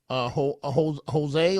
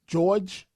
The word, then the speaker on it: Jorge: So wait, please, before I go to the next call here, Kearney, New Jersey, Jose, or is it, how does he pronounce that? It is Jorge.